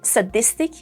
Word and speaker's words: sadistic: However, in sadistic and sadistically, we have s with a schwa sound.